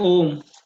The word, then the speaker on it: AUM: यार तुम्हारे नाम का प्रोनाउंसिएशन क्या है? AUM, क्या इसको प्रोनाउंस करूं, बताओगे मुझे? सर ओम। ओम। ओम, हाँ। तो उसमें तो ओ आता है ये AUM कैसे ओम हो गया?